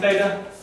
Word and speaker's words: theta: And how are we pronouncing theta? Theta. Theta. So it's just theta. Th. Yep, just like a TH.